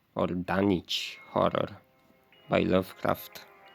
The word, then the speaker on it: Dunwich: Armitage, I believe, was that old chap in the Dunwich or Dunwich horror by Lovecraft, because you don't pronounce the W in that.